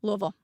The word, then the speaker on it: Louisville: credit at all I you got to say it like you have marbles in your mouth they say it Louisville louville louville well anyway here we